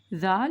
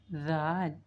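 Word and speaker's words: ذال: So, Zal is also pronounced from the tip of the tongue, but the tip of the tongue touch the lower side of the upper 2 incisors. Zal. And Zal is one of the soft letters.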